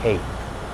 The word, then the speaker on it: cape: So if we have cap right now, let's go ahead and make cape.